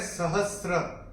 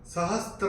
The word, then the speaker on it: सहस्र: तो इसका जो उच्चारण है वो है सहस्र, सहस्र, ओके, सहस्त्र नहीं है, सहस्र।